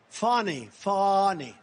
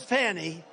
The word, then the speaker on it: Fani: All these local cases like Fani. It's spelled Fanny. It's spelled Fanny like your ass, right, Fanny? But when she became DA, she decided to add a little French, a little fancy. Fani.